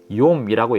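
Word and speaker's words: יום: 창세기 1장에서 날이라고 번역된 히브리어 단어는 욥이라고 읽기는 단어입니다 성경 전체를 볼 때요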